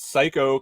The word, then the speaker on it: Cayko: I got Lance Psycho came out today. Psycho, you would think is spelled the normal way, but it's actually spelled Cayko.